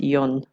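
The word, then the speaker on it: Yan: I remember his name, the tour guide, his name was Yon, Y-A-N, but it's pronounced Yon.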